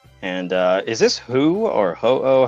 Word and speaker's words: Ho-Oh: is this Who or Ho-Oh? How are you pronouncing that? I usually just say ho. Ho-Oh. Oh, okay. Hello or something. That's Ho-Oh. Yeah, exactly.